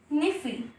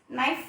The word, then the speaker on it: NIFE: जिसका मिक्सचर को हम लोग कहते हैं निफी, NIFE, नाइफ नॉर्मली लोग प्रोनाउंस करते हैं, बट द थिंग इसका असली प्रोनाउंसिएशन है निफी, NIFE, निफी।